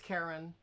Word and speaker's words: Karin: Oh, But it is spelled Karin. And as I said, so is that Karen? And he said, no, it's Karen, as if it Karen. was with an E.